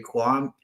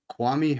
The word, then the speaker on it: Kwame: In 2003, Kwam Harris, pick 26, offensive tackle, Stanford. Kwame Harris.